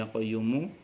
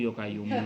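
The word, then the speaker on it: يا قيوم: belum bisa baca ya Hayyu ya qayyumu bacanya yokayuku yokayumu yo kayuku yo kayumu y ya Hayi ya qayyumu itu orang dulu gak enggak bisa bahasa Arab bahasa Iya orang Jawa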